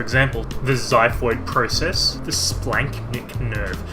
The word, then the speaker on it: splanchnic: the xiphoid process the splanchnic nerve by the way not splenic which would be cooler just splanchnic special shout out here